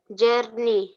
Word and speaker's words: journey: Don't say Jan. It is Jar. journey, Yes.